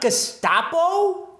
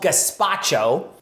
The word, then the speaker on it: gazpacho: people mispronouncing this online it's not gestapo um i think that's a kind of flat bread that's not that's not soup uh it's called gazpacho so while you're here